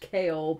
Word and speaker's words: Chaol: I know it's pronounced Chaol, but it's Cole.